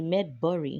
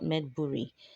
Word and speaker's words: Medbury: of the medical services it's actually made bur not medbury medb MediCal Services my